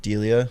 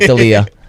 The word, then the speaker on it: Delia: Do you go Crawford, Delia? Yeah. Did I Go say it right this Crawford. time? Yeah. Not Dalia.